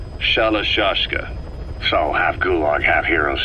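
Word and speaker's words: Shalashaska: to hearing about it pronunciation had wound up as shalashashka saw half gulag half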